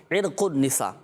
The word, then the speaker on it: عرق النساء: نے۔ دوسرا عرق النساء، اچھا لوگوں میں مشہور ہے عرق النساء، لیکن صحیح تلفظ کیا ہے؟ عرق النساء۔ عرق النساء کیا ہے، کیا ہوتا ہے اس میں، کہاں تکلیف ہوتی ہے؟